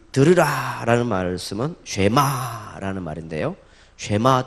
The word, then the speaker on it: 쉐마: 쉐마 또는 발음 자체가 쉐마 또는 셔마 이렇게도 가능한데 쉐마, 셔마. 그건 이제 그 간혹 보니까 부산 발음이 세가지고 우리 성도들 중에 간혹 세마 이렇게 하시는 분도 있는 것 같은데, 그러면 약간